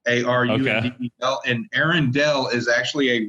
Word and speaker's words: Arundel: Arendelle is spelled. The Arendelle Castle is actually spelled Arundle, and mine is Arundel, Arundel, and Arendelle is actually a real castle in England.